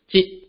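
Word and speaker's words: 一: So for counting in general, the digit 1 is pronounced as jit in some situations and it in other situations.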